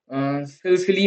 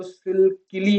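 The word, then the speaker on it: Sicily: करते हैं सकस और इसको सकली हम प्रोनाउंस नहीं करते इसको हम प्रोनाउंस करते हैं सिसिली ये यहां पे सी एस का काम करती है सिसिली ओके तो अब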